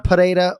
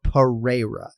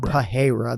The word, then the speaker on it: Pereira: the MMA masses too can't be any H sound in Pereira it's either right you roll the r pareda or Pereira it's it's not pajera there's no h whatsoever so there's your disclaimer Ken